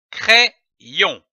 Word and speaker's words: crayon: Lorsque l'Y est placé entre deux voyelles, il se prononce comme un double I.